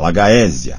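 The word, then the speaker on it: Alagaësia: as línguas originais para dominar suas verdadeiras complexidades pronúncia agrad a j i r r a d e a lagaia a l a g a e s i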